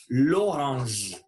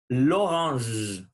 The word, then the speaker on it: l'orange: Donc, on ne va pas dire la orange, sinon on dit l'orange. Et faites attention à la prononciation du son j. C'est comme une petite abeille. L'orange, l'orange.